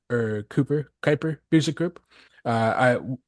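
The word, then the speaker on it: Kuiper: called The called the Kyper or Cooper Kyper music group uh I we we debate how we could actually pronounce that Dave uh it's it's basically like like Kyper belt uh which is near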